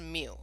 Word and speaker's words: mu: that mu symbol so it's pronounced mu but it looks like that thing on the slide all right um the